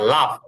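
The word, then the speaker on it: laugh: জি স্যার একটা শব্দ শুধু উচ্চারণ একটুই হয়। যে হাসা যে ইংলিশ শব্দটা একটু হ্যাঁ লাফ।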